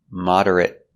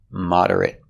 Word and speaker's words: moderate: it's not a verb moderate with the short sound moderate moderate means in the